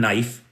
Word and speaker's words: knife: There's one silent K in knife.